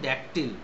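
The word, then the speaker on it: dactyl: এবার ড্যাকটিল, এটার উচ্চারণ ড্যাকটিল।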